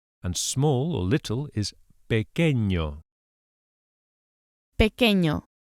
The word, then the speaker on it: pequeño: And small or little is pequeño. Pequeño. The wavy line known as the virgulilla on top of the N turns the sound into a ñ, as in onion or España, ñ, pequeño.